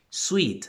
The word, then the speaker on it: suite: son Sweet di conmigo Sweet Suite la misma pronunciación que pasa con la primera